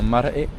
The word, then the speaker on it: marae: Bon, on a fini la visite du monoil et là on va visiter un maré. C'est comme ça qu'on prononce.